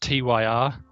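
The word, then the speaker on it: Týr: It's Toyr, I think it's how it's pronounced. Tyr. It's how my friend tells me it's pronounced anyway.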